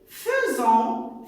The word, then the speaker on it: faisant: Fait, faisant, faites. Ici, vous allez me dire, il s'écrit avec AI, mais il se prononce E, les enfants, et vous savez déjà ça.